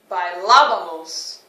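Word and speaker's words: bailábamos: by so that you can hear where that accent is put by lava by lavamos make sure you put emphasis on that second a there in bailar by lavabos if you're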